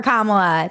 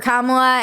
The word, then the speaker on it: Kamala: way white ladies for kamla and everybody who supports her learn how to pronounce her name we did first you say comma like a common sentence then you say la like la la la la la when she